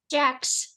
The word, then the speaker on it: Jacques: Jacques. From spelling English pronunciation, I believe everybody, butchers it.